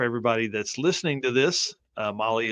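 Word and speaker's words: Mahle: that's listening to this Molly is spelled m ahle e and you can find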